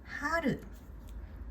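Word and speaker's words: 春: Now, Haru. This is Haru is Oh, spring. Spring. Uh, color. The pronounce is different from R but okay just follow it.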